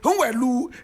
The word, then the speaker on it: Nwelue: Onyeka is spelled O-N-Y-E-K-A. Nwelue is N-W-E-L-U-E.